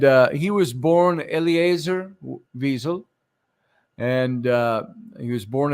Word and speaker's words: Wiesel: about a man named Elie weasel or Wiesel as he pronounced it and uh Eli